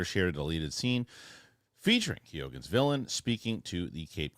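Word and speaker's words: Keoghan: for me CU I always it wrong Barry kogan thank you that's how he pronounces it other Irish people pronounce it Keon but it's kogen from his mouth Barry kogan's Joker rumored for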